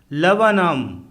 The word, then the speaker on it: Laburnum: LABURNUM लवनम अर्थात अमलतास का पेड़, इसमें 2 बार U फॉर अम्ब्रेला आया है तथा R फॉर रैट साइलेंट है।